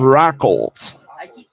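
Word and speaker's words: Raucholz: got roads out here rackles r-a-u-c-h-o-l-z rackles with the l yeah rock holes the l's not silent i keep pronouncing it wrong that's why i'm asking rockles and i don't want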